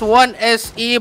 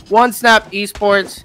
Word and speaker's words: Onesnap Esports: Man, people pronounce it as 1SE, but I swear I'm pretty sure that that's pronounced as Onesnap Esports, IPT, Tale of Oldest Time.